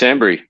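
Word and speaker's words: Hanbury: My surname rhymes with a fruit. That's an interesting last clue. No guesses, boys. I would It It doesn't rhyme with orange cuz nothing rhymes with orange. It rhymes with cranberry.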